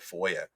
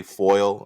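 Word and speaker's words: FOIA: Information Act instead of Foya because some people don't even pronounce it right they say foil I'm going to do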